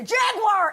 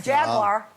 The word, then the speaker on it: Jaguar: oh no not a Jaguar if you're going to promote them at least learn to say it properly how am I saying Jaguars three syllables over yeah you say you're saying Jaguar okay I don't have time